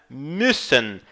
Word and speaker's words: müssen: E a pronúncia da letra U com os 2 pontos em cima, né? O U sorridente aqui, é mais ou menos com um biquinho, então você diz müssen.